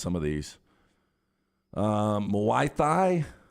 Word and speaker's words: Muay Thai: some of these um moaithi no idea why surfing we're doing that m-u-a-y thai maybe muay thai muay thai yeah it's fighting it's like